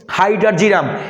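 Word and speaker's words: hydrargyrum: iron হল কি ফেরাম তাই এফ মার্কারি হল হাইড্রারজিরাম হাইডারজিরাম হাইড্রারজিরাম ভাইয়া আমি উচ্চারণটা সাইডে লিখে রাখছি অনেকে উচ্চারণ করতে ভুল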